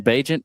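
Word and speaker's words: Bagent: Well, Tyson Badant produced. Is that how you pronounce his last name last night with the Bear? Tyson Bagant.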